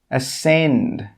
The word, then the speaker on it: ascend: The first rule is that when the letter C comes after an S, it's normally not pronounced. Some common examples are scissors, muscle, ascend, conscious. You can see here that we don't pronounce the C after the S.